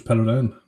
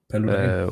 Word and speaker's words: Paludan: Rasmus Paludan. Yes. Paludan.